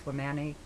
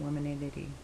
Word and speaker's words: Womanity: I was adding an extra syllable in there, and I apologize. It's Womanity, not Womanity, whatever.